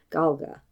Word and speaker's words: Gaeilge: called Gaelic and the Irish language is called Galga. She then went on in that same interview to mispronounce the Gaelic words she used in the